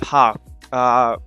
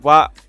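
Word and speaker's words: は: Okay, it's pronounced wa instead of ha.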